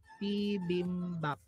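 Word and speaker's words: 비빔밥: So ang ating first syllable is P, second syllable is bim, third syllable is bap, P, bim, bap. P, bim, bap.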